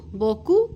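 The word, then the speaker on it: beaucoup: MERS बोकू thank you बोकू पी is silent.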